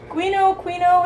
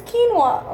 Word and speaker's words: quinoa: Quino, it's quinoa.